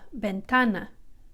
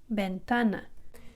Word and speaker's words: ventana: The letter V, just like we talked about there, sounds like our B, but really light, ventana, ventana.